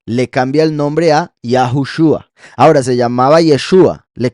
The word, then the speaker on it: Yahushua: más razones y eso nos muestra que la pronunciación no es yah husha es yahushua después está eh Génesis 38 cuando yahuda se